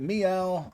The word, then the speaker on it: MEOVV: to two me uh is it meow I'm pretty sure it's meow just spilled with two